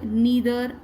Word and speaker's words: neither: Okay, ये देखिए either और neither है, इसको हम either neither भी बोलते हैं और either और neither, both pronunciations are correct.